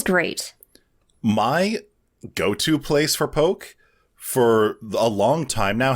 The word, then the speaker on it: poke: Pretty sure it was poke. It has an accent on the E.